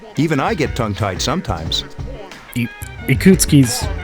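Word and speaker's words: Ikutsuki: i get tongue-tied sometimes ikootski's not that hard a name to say ikutsky it's like it's like four syllables my duke it's not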